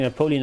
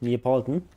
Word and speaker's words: Neapolitan: I don't think he's eating Napoleon ice cream. Probably eating Neapolitan ice cream. That's how you say it. Neapolitan.